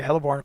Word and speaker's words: heliborne: That's the correct way to say that, heliborne. Like it's one word.